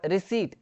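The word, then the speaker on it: receipt: और रिसीट, यहाँ पे हम कई लोग बोलते हैं रिसिप्ट रिसिप्ट ऐसा करके, लेकिन ना यहाँ पे पी जो है ना वो साइलेंट रहता है, तो यहाँ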